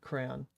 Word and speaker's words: crayon: Like one syllable, crayon? And man, I grew up different, I guess. I'll end the poll so I can actually see the chat on the little pop-up here. But yeah, dude, it's 89% say crayon, which is wrong, but it's what they do. 2 syllables. 11% say crayon.